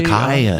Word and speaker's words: acai: Yeah, acai. Yeah, like Jimmy Fallon just had a tweet. It's like the shortest word ever for the most syllables.